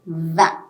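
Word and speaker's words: vingt: nineteen this nerve and twenty is va remember it's only the again here for twenty the last two letters are silent g t are silent we are only pronouncing v i n that's it so i'll repeat once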